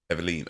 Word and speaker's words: Evelyne: Evelyne.